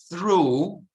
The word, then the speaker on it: through: Through, you know, like true, which means attraverso.